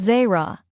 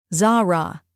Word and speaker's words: Zara: Zara, she corrected for the 10th time. Not Zerra. Zara, he repeated, getting it almost right.